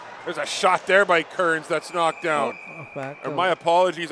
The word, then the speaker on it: Cairns: My apologies, I was calling him Cairns earlier because, we were used to Rory Cairns he played for the Sioux Greyhounds for a number of years, so clearly there's no relation, but his the pronunciation is Kearns, so.